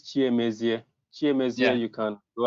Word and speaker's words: cnMaestro: Well, I don't know if I can pronounce this name, but it's. Let me help you. It's cnMaestro.